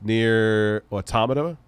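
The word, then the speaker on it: NieR: Automata: you have you tried any near games yes near automata did I say it right yes you could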